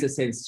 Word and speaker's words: SENS: And sense, of course, it rhymes with JENS, but also because it means sense, meaning, you know, and in French it's sens.